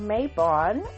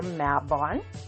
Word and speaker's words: Mabon: On the Wheel of the Year calendar, the North is celebrating Mabon or Mabon, depending on how you prefer to pronounce it.